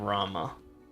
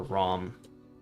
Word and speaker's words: Rama: god the main enemy of Rama or ROM depending on how you pronounce it I've heard it but both ways but um so a